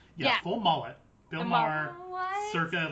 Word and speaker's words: Maher: And Bill Maher is that how it's pronounced? Like the guy like from HBO or whatever. Oh yeah, Bill Maher.